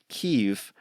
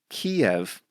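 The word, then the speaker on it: Kyiv: you may have heard heard me talk about keev the capital of Ukraine ke is close to what they say in Ukrainian but I grew up calling that City Kiev which is more aligned with the Russian pronunciation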